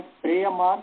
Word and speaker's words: प्रेयो मार्ग: उसका शुद्ध उच्चारण है श्रेयो मार्ग, प्रेयो मार्ग, क्योंकि प्रेयस शब्द है, श्रेयस शब्द है।